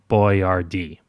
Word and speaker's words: Boyardee: So he phoneticized it. Boiardi became Boiardee.